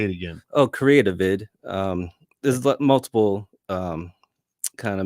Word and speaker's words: Creativid: Oh, Creativid.